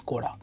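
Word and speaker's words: 氷: তো সেই ক্ষেত্রে বলছে যে নানি ও কুদাসাই, মানে এই যে মানে আন্ডারস্কোরের উপরে এটা কি দেওয়া আছে, এই কাঞ্জিটা রিড করতে বলা হয়েছে।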